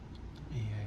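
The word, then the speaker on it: Eä: Again, I can't remember the pronunciation rules, but I think they're pronounced separately. EA.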